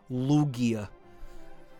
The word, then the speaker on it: Lugia: Lugia. Even though that's how you pronounce it.